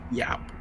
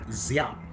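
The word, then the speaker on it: Giáp: Yap. The It's actually Zap. It's like It sounds like a Z. Zap.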